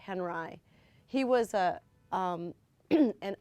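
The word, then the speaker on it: Henri: man Robert Henry it's it's spelled like on HRI like you know with an i but they say Henry he was a um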